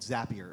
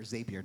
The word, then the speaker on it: Zapier: we use a tool called Zapier, or Zapier, depending on how you pronounce it, and that connects two different platforms.